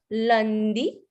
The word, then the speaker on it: lundi: Lundi. Here we go. Lundi. Lundi.